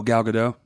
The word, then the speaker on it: Gal Gadot: Oh Wonder Woman Oh gal gadot oh there we go look at the T is silent I think it's one